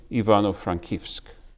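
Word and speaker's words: Ivano-Frankivsk: the soviets had renamed ivano frankowsk today pronounced in the ukrainian ivano frankevsk morris was working there for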